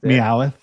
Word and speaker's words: Meowth: Meowth. Gotta add that third syllable in there.